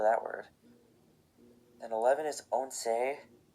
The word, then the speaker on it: once: Then 11 is once, remember it's not pronounced once, like some of you probably think.